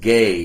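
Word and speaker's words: γῆ: there's the word gay it's the transliterated GE but it's pronounced gay in the Greek and that word is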